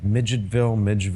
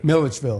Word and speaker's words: Milledgeville: I can never pronounce it right. Midgetville. What do you? Milledgeville.